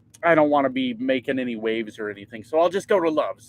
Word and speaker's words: Macon: because I was like it's got to be pronounced like a cool way but it's not it's just making apparently apparently oh that'd be